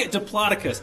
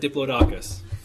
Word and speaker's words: Diplodocus: So, it's really Diplodocus. For my entire life, I think I've said Diplodocus.